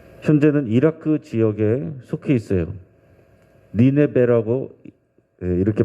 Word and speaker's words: 니네베: 니네베라고 이렇게 발음합니다.